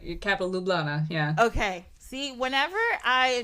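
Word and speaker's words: Ljubljana: or is this Slovakia no you're right Capital lublana yeah okay see whenever I am trying to pronounce something Slavic and there's a j I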